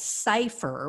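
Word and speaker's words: Cyfir: So the founder of a firm called Cypher, which is spelled C-Y-F-I-R, it's a man named Bob Cotton.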